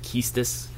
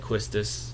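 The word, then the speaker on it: Quistis: go to different pronunciations I think other people pronounce it kiestus but um I've always said questus and I got this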